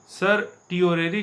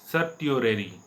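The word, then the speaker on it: certiorari: सर्टियोरेरी का स्पेलिंग होगा CER सर टिओरेरी, TIORARI, सर्टियोरेरी।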